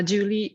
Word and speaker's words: Julie: one knows me here that's the very French pronunciation of my name uh Julie working in Athens in